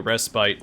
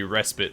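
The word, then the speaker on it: respite: we take a peek thank you for pronouncing rest bite as such hate the respit pronunciation so we could just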